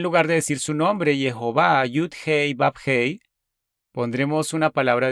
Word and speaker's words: Jehová: Algunas personas lo pronuncian como Yahweh, otros hemos explicado en algunas de las otras presentaciones por qué lo pronunciamos Jehová.